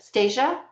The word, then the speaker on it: Stasia: I think Stacia Stac I always Anastasia Stasia. I always have to say Anastasia to get Stasia's name pronounced right. Um it's my little brain trick with your name.